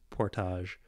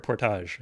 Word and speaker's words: Portage: And so when I see the name of the street, I see Portage. Of course it's Portage, because that's how you say, it's a French word, Portage.